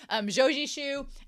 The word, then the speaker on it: Zhou Zishu: I found out that I've been saying Zhou Zishu's name wrong the entire time, but glad we found out now. Zhou Zishu and Sao Wei Ning, which I should just call him Wei Ning.